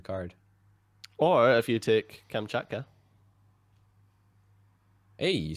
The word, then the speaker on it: Kamchatka: Or if you take Kamchatka.